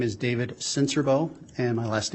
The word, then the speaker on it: Sincerbeaux: spell your last name my name is David sensorbo and my last name is spelled s-i-n-c-e-r-b-e-a-u-x sir how are you employed um